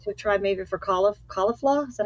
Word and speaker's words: Caulifla: would have liked to tried maybe for CIF caulifla is that how you say it caulif oh